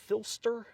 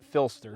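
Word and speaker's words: Phlster: Do you pronounce it Filster? Do you know Filster. Filster. Yeah. That's how I've always assumed, but I've never really heard anyone say it. P-H-L-E-S-T-E-R, right? Yeah. Filster. Yeah. Or is it P-H-I-L-S-T-E-R? No, Either it's way, I'd P-H-L. pronounce it Filster. I say it Filster, right?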